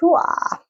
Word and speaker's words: Huath: and it's pronounced huah.